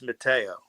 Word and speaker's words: Matteo: My last the pronunciation of my last name is Matteo.